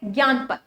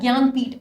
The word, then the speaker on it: ज्ञानपीठ: Next award हमारा है ज्ञानपथ, ठीक है, जनानीपथ या कुछ ऐसे प्रोनाउंस मत करना। This award is known as ज्ञानपीठ award, ठीक है।